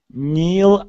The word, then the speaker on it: Neil: Neil Armstrong. Instead of Neil, it is E. A long e sound.